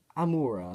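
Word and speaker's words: Amaura: of these more immoral I'm aura that's how it's name pronounced I do she's the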